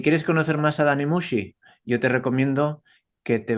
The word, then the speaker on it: Muxi: Entonces yo me llamo Dani Mushi. También tienen la incomodidad que Mushi suena como si fuese sushi, pero se escribe con X, entonces Dani Muxi.